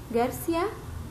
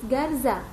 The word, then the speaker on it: Garza: Sorry, what's your last name again? Garcia. Actually, it's Garza. How do you spell that? G, A, R, Z, A.